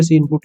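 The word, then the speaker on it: cin: हैं लेकिन वो सही नहीं है, इसको हम प्रोनाउंसिएट करते हैं सी आउट। और एक सी इन भी होता है, जब यूजर से इनपुट लेना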